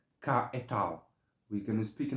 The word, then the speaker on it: Cahetel: Um, okay, so this angel's name, you have a few ways to pronounce. The way I pronounce it is Cahetel.